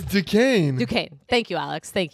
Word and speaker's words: Duquesne: Yeah, it's Duquesne.